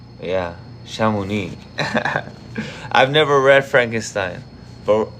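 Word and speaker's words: Chamonix: Shamuni or Shamunix. Maybe I could have Google say it for me. Let me see. H is silent. So do not say shamonics or shamonik, but rather simply shami.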